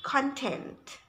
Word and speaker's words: content: now what about the second pronunciation the second pronunciation is content content content means things contained by something things